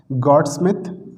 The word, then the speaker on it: Goudsmit: इन दो प्रॉब्लम्स को सॉल्व करने के लिए देखिए दो साइंटिस्ट थे, इनके नाम की जो स्पेलिंग है, एक मिनट रुकना, हाँ, ये है गॉडस्मिथ, GOUDSMIT, गॉडस्मिथ, और यूलेनबेक, UHLENBECK।